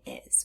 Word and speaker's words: is: that last sound in is we hear the sound Z but it's spelled with the letter s we haven't learned the